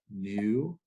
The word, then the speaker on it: nu: the parameter new again this is the Greek letter nu naught mu nu it's like the Greek in Midna it says in it makes the sound mmm phonetically like our English and okay that's called